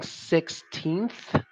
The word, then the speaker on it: sixteenth: a hard one because when you're saying sixteenth you have to stick your tongue out at the end because you can't say 16 you can't you have to actually get that th sound out 16th you absolutely have